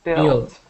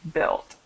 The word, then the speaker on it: built: first word is Bill bu a road built okay so we pronounce that without the u just built built okay perfect and the